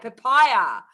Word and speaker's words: Papaya: Papaya is pronounced with an I. Papaya.